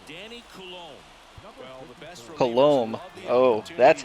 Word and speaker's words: Coulombe: Well, the best Coulombe. Oh, that's how it's pronounced.